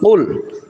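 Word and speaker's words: قل: তাহলে এখানে আমাদেরকে বলতে হবে কুল। এই কফের উচ্চারণের স্থানটা হলো জিহ্বার গোড়া থেকে একটু আগে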